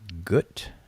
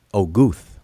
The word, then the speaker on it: Guth: I think it's let me see, Gut. I want to say, Guth. Sorry, I'm saying Gut. Man, I butchered my man's name.